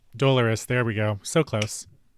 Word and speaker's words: Dolores: uh i believe i'm saying it right d-o-l-o dolores dolores there we go so close oh okay and